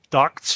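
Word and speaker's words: DUKW: as the the duck the duck W you know the Ducks pronounced duck those words those were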